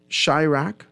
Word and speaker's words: Chiraq: right uh I'm looking for it right now shyraq with um yeah Chiraq it's a movie that came out in 2015. it's spelled c-h-i-r-c-h-i-r-a-q Chirac and the entire movie is